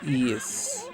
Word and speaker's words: Ys: Basically the grandfather of action RPGs wise pronounces ease.